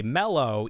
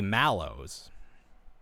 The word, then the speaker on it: Mallows: the product squish mods because in America we it's like you know originally from marshmallow and we say mellow even though there's an a like a lot of the times the way that Americans pronounce things doesn't make any sense but you you you respect the a you say malow malow mow yeah so